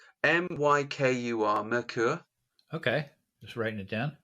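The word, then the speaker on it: Myrkur: it just means folk songs how do you spell that um uh her name or or the album add the band name m-y-k-u-r merkur okay just writing it down it means darkness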